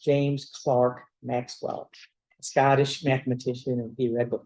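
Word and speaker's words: Clerk: Um, his middle name is spelled with an E, but it's pronounced Clark as if it was an A. Okay? So his name is pronounced James Clark Maxwell, Scottish mathematician and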